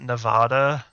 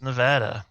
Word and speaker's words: Nevada: In TV, I always hear people pronounce it Nevada, but I've never heard anyone in real life pronounce it that way. It's Nevada, but maybe that's just my Utah accent.